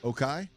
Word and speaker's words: OKAI: It's OKAI. How's that pronounced again? Okay.